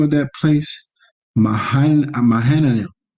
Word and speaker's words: Mahanaim: And he called the name of that place Mahanaim. How you pronounce it? Makanahayim, meaning two camps, two people.